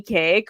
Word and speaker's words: Kaake: that don't know cake which she we talked earlier she's like my name's pronounced like birthday cake um but I was